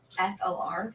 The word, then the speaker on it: for: come over for dinner it's called a weak form English has something called